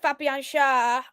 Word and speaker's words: Schär: I'm gonna go for is it pronounced Shah? Fabian Schär? Yeah, I actually think Fabian Schär.